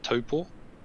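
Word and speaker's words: Taupō: in a place called taupo or toppo um if you want to pronounce the maori correctly um i was there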